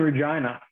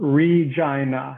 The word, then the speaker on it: Regina: It is the city that rhymes with fun. Yes, it's called Regina, not Regina, but Regina.